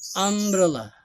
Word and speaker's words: umbrella: kata benda ya dan pengucapannya di sini adalah fonetik simbolnya di sana e Perhatikan ya fonetik simbol atau simbol suaranya ya adalah huruf diawali huruf a ya ambrela ya ya seperti itu ya ambrallah